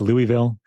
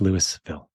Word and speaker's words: Louisville: If you were in Kentucky, it would be pronounced Louisville. But here in Colorado, we say it like Americans, and it's Louisville.